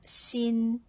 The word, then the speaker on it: 心: วัน นี้ เรา มาเรียน คำ ว่า Shin Shin ตัว อักษร ตัว นี้ นะ คะ อ่าน ออก เสียง เหมือน Sin ใน บท ที่ 2 เลย นะ คะ แต่